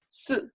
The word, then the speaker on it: 四: 四, falling tone is number 4.